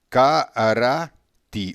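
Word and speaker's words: קָרָאתִי: Karati, ou seja, tem duas ocorrências aqui de letras defectivas impronunciáveis. Karati. Você não fala nem essa, você fala as que estão com ponto.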